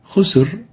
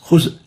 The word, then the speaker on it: خسر: Khusr is the right way of pronouncing this. But if we really make it so tense and short, it will sound like this. Khusr, as if there is a Hamza or there is no Ra. Khusr.